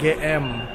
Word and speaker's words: GM: Jadi buat kalian, ini jangan susah Inggris nih, GM. Padahal si Bakmi GM itu selalu bilang, tulisannya dibacanya GM.